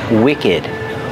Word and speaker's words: wicked: we have the word wicked wicked has a short s sound too and we pronounce the e d like Ed together wicked wicked is the